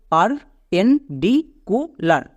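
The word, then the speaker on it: perpendicular: মনে রাখবা এখানে কিউ হবে না, এখানে সি ইউ, এর জন্য কু হবে। নেক্সট, এল এ আর, লার, তাহলে কি দাঁড়ালো? পার পেন ডি কু লার। এবার একসঙ্গে উচ্চারণ করো, পারপেন্ডিকুলার।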